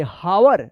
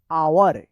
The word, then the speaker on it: hour: तो चलिए अब यहाँ पे हम लोग देखते हैं HOUR, इसको क्या पढ़ेंगे? हावर नहीं, इसको पढ़ा जाएगा आवर। क्या पढ़ा जाएगा? आवर पढ़ा जाएगा।